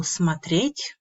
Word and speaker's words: смотреть: As you can see, the stress in the infinitive falls on the last syllable смотреть.